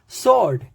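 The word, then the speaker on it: sword: है रिटन में but pronunciation में नहीं है सर्ड एस डब् ओ आर डी सर्ड तो कभी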